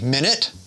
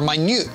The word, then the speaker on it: minute: It could be minute, meaning a unit of time, or minute, meaning a small amount.